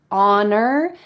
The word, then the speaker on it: honor: The first word is honor, and the next one is introduce. So in American English, the R is very hard.